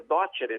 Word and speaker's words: docere: se ele sabia docere, que em latim se pronuncia docere, de onde deu docente, explicar aquilo.